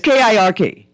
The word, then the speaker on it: Kirk: The thing with Charlie, how you say it? Cook or something? I think Kirk. Kirk. Yeah, it's Kirk.